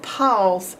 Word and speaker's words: pause: you're gonna have to remember by heart that Paul's ends with an E even though you can't hear it and it's not being